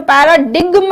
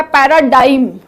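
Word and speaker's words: paradigm: इसका pronunciation पैराडिग्म नहीं है, ये है पैराडाइम।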